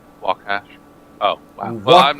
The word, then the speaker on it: Waukesha: That it is pronounced Waukesha. Waukesha.